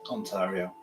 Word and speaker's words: Ontario: it Oh auntie or is it do you pronounce it on on true on trio Canada Ontario Ontario Canada right that's it yeah yeah we